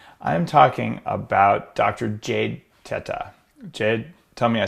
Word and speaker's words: Teta: We actually pronounce it Teta, but Teta, I think, is the best way to pronounce it for the real Italian enunciation.